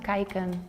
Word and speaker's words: kijken: It's pronounced kijken.